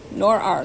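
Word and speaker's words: når: Nor are, that's how they say to pronounce it. Omvisningen. Now, I'm not just trying to be silly. I believe that's what it says. Where is the bus stop? So nor-ar is N-A-R, and the A has a round dot over it.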